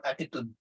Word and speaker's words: attitude: Kasi nga yung T, ina-aspirate. So it's not attitude, it's attitude. Solitude, YouTube.